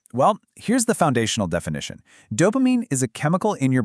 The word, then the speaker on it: dopamine: It's just 3 syllables, and the emphasis is right there on the first one. So it's do, then pa, then mean. Dopamine.